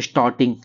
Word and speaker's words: Storting: Norway का बात करें तो स्टॉर्टिंग, स्टॉर्टिंग, STORTING, स्टॉर्टिंग।